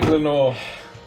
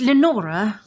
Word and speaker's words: Lenora: Isn't that right, Lenor? Well, it's Lenora. Lenor. Yes, that's what I said. Well, no, it wasn't. You didn't pronounce the A.